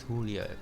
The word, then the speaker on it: Julio: text text so names Julio pronounced with a h neither J got that I'll be